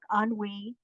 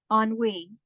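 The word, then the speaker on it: ennui: lines from my chatbook on we from the diagnostic and statistical Field Guide of feminine disorders here's a tip for you authors one-word titles two syllables at most pronunciation on we on we also Henry definition particular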